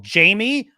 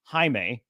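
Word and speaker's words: Jaime: see J Jenny cord and he's like oh Jamie okay cool he's like no no no it's pronounced haime because it's spelled j a i m that's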